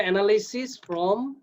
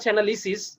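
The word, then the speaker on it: analysis: ফার্স্টে লিখে দিবা এরকম যে ফ্রম দ্য অ্যানালাইসিস অফ উচ্চারণটা অ্যানালিসিস, from the অ্যানালিসিস অফ the chart তারপরে দিবা এই যে জিনিসগুলা।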